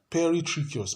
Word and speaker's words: peritrichous: Then the fourth type of flagellation is called peritrichous. peritracheous. Peritracheous is spelled P-E-R-I, tracheous.